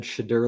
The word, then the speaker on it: Shadar Logoth: Like it's well, I just figured it's like a dark shade. Shade. I'm like shade. It's got to be Shadar.